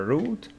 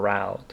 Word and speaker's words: route: Two pronunciations, a route or route, means way.